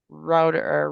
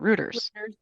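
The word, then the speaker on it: Reuters: Fierce Pharma was another article in there from August 24 and router writers. Routers, how do you say it? Rooters.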